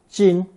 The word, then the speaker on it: 斤: So I'll introduce a new reticle, the axe or hatchet reticle, pronounced first tone, 金.